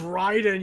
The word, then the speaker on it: Raiden: It's pronounced Raiden, you morons.